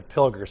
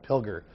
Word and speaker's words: Pilger: the damage Pilger until it not killed your Pilger so I just wanted to update that because